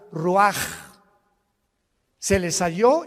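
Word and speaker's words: רוּחַ: Roach así como suena se pronuncia la c en hebreo como J ruaj se le só y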